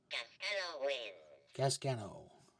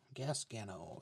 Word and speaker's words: Gasgano: Gasgano. Gasgano. That's how you pronounce his name.